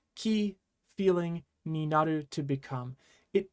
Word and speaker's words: 気: same kunyomi and onomi it's usually almost always going to be pronounced key whether it's used in isolation or when it's used within a compound but key carries so many different